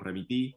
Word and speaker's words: Remití: Entonces, por eso dijimos Remití con doble E, pero después nos dimos cuenta que cada uno le dice como quiera. Exacto. A unos nos dicen Remití, ponen el acento en otro lado, pero la verdad que